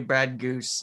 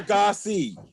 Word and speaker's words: Gosse: Brad, how many people tell you Brad Goose instead of Brad Gosse? 40%. Is it Gosse or Gosse? Oh wait, okay, that's It's Gosse. It rhymes with sauce.